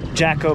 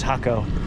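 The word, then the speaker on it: Jacó: That was in Jacko Beach, which I think they pronounce Hako. We call it a Jacko Beach.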